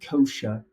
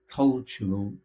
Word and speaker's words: cultural: words mispronounce here like cultural sounded like kosher cultural cultural and U nature sounded